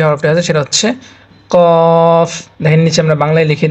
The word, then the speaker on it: ق: এখানে আমরা দেখতে পাচ্ছি প্রথম যে হরফটা আছে সেটা হচ্ছে কফ। দেখেন নিচে আমরা বাংলায় লিখে দিয়েছি কফ, কফ। বাংলায় যেভাবে লিখে দিয়েছি সেভাবে উচ্চারণ করার চেষ্টা করবেন, তাহলে জিনিসটা পড়তে সহজ হবে।